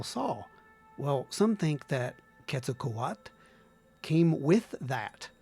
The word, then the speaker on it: Quetzalcoatl: that because you know quetzalcoat some people call them quetzalcoatl how you pronounce it is quetzalcoat so if you hear me say that don't say hey you're saying it wrong no i'm not